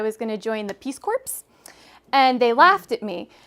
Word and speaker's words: Peace Corps: wanted to join the Peace Corps. But they were laughing at me because I was pronouncing that P in Peace Corps.